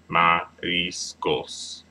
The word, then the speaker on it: mariscos: okay no Mariscos Mariscos Mariscos Mariscos trying to accentuate that IR part because again that second to last syllable when it ends in the S Mariscos and that is